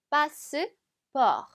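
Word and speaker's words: passeport: 빠 스 바 자 패스포트 인데 발음은 조금 다르죠 요렇게 잘라서 한번 읽어 주시면 되요 빠 스 프 이렇게 읽으면 되겠습니다 자 그 다음에는 제시하다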